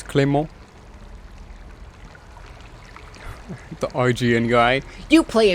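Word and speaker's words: Clément: Because the E is the E from cliché. So it's Clement.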